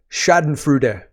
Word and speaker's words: schadenfreude: it's a lot of Shaden frud which is how you say that word I've heard and we'll talk about